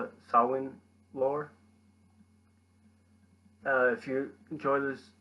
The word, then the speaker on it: Samhain: Samhain, spelled S-A-M-H-A-I-N, pronounced Samhain, comes from the Irish Gaelic meaning summer's end.